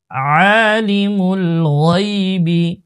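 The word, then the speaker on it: عَالِمُ الْغَيْبِ: গাই, বাজের বি, গাইবি, আলিমুল গাইবি, আলিমুল গাইবি, গাইনের উচ্চারণ মোটা, হ্যাঁ, আলিমুল গাইবি, গাইবি,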